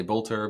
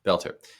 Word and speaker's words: Boelter: Some will say Bolter, but it's the correct pronunciation is Belter.